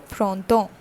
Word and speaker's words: printemps: But for learning purpose, I am telling you that this has a pronunciation like temps, and the complete pronunciation is printemps.